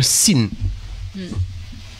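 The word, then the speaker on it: שׂ: Et si le point est placé sur la gauche, ça se prononce se. Alors, à ce moment-là, c'est un sin.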